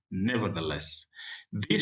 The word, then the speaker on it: nevertheless: And here's the word nevertheless. Nevertheless, nevertheless sounds like uh two words but is pronounced as one word. Nevertheless, this shows contrast.